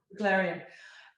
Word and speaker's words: Beglarian: Larian, yeah. Beglarian.